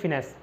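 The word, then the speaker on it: finesse: finance मतलब इसको pronounce करना, हमेशा फाइनेंस प्रोनाउंस करना, फाइनेंस मतलब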